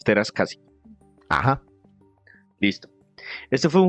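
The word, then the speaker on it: Teräs Käsi: Si ustedes lo miran, está escrito y las As tienen la diéresis y los dos punticos arriba. Eso quiere decir en inglés que esa letra sí se pronuncia tal cual. Que en inglés a veces las Cs al final no se pronuncian, pero si ustedes ven que tiene esos dos punticos, les toca pronunciarla. Es Masters of Terascasi.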